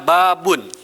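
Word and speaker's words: بابٌ: babun gitu ya bacaannya babun Nah bye Bun hati-hati bacanya bukan pakai out api pakai Uyah jangan babon tapi babun gitu ya babun ini artinya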